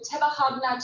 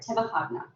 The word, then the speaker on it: Tebahagna: So this brings us to Tebahagna to today. That's how you pronounce that word, Tebahagna.